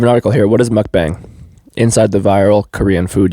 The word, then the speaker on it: Mukbang: It's called Mukbang, pronounced Mukbang. Oh, so it's Mukbang. Mukbang, okay. I've been saying Mukbang, but I guess bang is such a American... United States kind of bang.